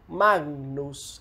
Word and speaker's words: magnus: like its english equivalent, we have this sound /ŋ/ as in the word "magnus", this "G" assimilated the nasal features of the following "N".